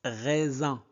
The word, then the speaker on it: raisin: Ici on prononce raisin.